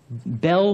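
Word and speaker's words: Belle: It's up on Bell Mountain. It's spelt B-E-L-L-E. It's actually a French word, Bell.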